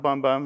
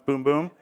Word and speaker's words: Bum Bum: brand so you have the boom boom cream that's how you say it it's not bum bum it's boom boom we have that in